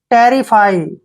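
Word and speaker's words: terrify: देखिए टी का उच्चारण टे करेंगे, ई को ए की मात्रा पढ़ना है, RI को री पढ़ेंगे और FY को फाई, टेरिफाई, टेरिफाई क्या होता है?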